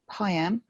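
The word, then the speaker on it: PIAM: information assessment meeting or high-end um family solicitors will recognize that uh it rhymes with mayam and that's because it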